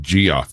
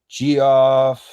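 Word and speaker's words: Geoff: The other one pronounced it Gio to be different. Yeah. Yeah. So, my parents uh named me Jeff.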